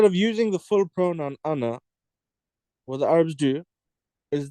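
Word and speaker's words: أنا: As we mentioned before, the alif of ana, the third letter, is actually a silent letter. It's actually not pronounced. We don't say ana, we just say ana.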